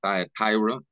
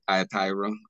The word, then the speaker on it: Thyatira: at the church of thyra um however you may pronounce pronounce it I pronounce it thyra um but me I'm